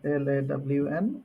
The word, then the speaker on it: ln: So in other words, it's pronounced as lawn, ln, but it's written as ln.